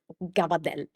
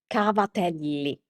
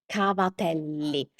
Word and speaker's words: cavatelli: The Italian word for that is cavatelli cavatelli So, again, we can see some similarities. Uh first of all, we need to pronounce the ending vowel.